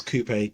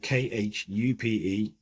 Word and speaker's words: Khupe: My name is spelled a bit like a Wi-Fi password, so I must spell it out for you. So it is, and it's Khupe, Khupe.